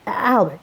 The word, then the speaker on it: Albert: A French bloke, Albert, except they don't actually say the T.